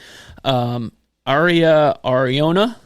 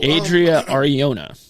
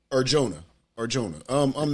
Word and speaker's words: Adria Arjona: Aria Ariona, I believe is how you say it. Alex Pereira plays a character named the Butcher. Adria, excuse me, I forgot the T. Adria Ariona. Arjona.